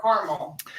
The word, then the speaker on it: caramel: Caramel or caramel? That's a good one. Is most certainly for me caramel, and I am quite, I think, insistent about the strong pronunciation over each syllable there. But where I lived in the Midwest, or particularly in Indiana, it was caramel.